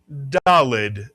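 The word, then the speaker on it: ד: The sound it makes is if you said D, you are correct. Mitsuyan. And the letter is dalled.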